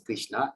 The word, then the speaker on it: Krishna: The words Hare pronounced as Hare, Krishna pronounced as Krishna, and Rama rhymes with Rama are Sanskrit words.